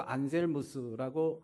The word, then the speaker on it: 안셀무스: 이러한 신앙 명제를 안젤무스 라틴 발음으로 안셀무스라고 하고요.